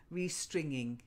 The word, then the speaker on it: restringing: stringing it's a in restringing uh and string it strings yeah stringy if you're yeah stringy but restringing but not g not string G we do say stingy